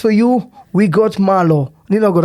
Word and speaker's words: Nina Ogot: Nino Ogot. How do you pronounce that?